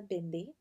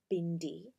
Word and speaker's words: bindi: well this is a bindi as you know and yes that's how it's pronounced not bindi the d sound is a duh not a hard duh nice good yeah that's